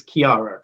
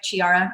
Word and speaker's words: Chiara: do i mean it's kiara correct yeah you said it right too a lot of people think it's like chiara i've gotten chair shakira chianti so all kinds of things but it's kiara with artsy